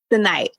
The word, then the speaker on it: Senayt: happy to have you and I hope I pronounced your name correctly did I say it correctly tonight tonight tonight and the last name dime I've